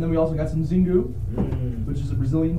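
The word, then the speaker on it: Xingu: It's pronounced Zingu.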